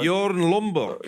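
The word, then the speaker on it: Bjørn Lomborg: And Lomborg, I think, is right to point out that given that this is Bjorn, how do you pronounce that? Bjorn Lomborg Yeah.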